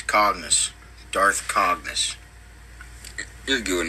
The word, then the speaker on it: Cognus: conus who Darth conus probably probably not pronouncing that right probably not is it communist no it's c o n g n u s Darth c o n cognus cognus it's cognus Darth cognus you're good